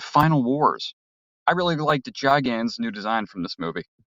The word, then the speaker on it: Gigan: Yeah, it's officially Gigan, actually, if we're going from the novel.